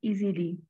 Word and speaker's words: Easelly: online tool that is named as Easily, and it is spelled as EASELLY.